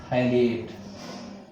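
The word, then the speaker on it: phthalate: Okay, यहां पर pH silent है, अमोनियम थैलेट, क्लियर।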